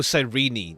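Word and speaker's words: Cyrene: my eyes that murderer killed sirene okay oh sirene that's how you say his name be cool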